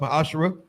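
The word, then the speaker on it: ma'aser: numbers 18:21 Malachi 38-10 means 10th in Hebrew it's pronounced my ASA 10% of every penny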